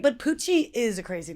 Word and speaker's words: Pucci: Pucci. No, it's like Gucci just with a P.